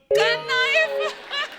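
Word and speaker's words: knife: मैं चाकू को भी क्नाइफ बोलता हूं। नाइफ। कनाइफ नहीं होता, नाइफ होता है। के साइलेंट रहता है।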